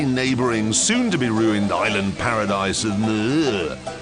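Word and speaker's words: Moorea: get away from them, we're off to the neighbouring, soon-to-be-ruined island paradise of Muir, which is pronounced by the locals as Muir.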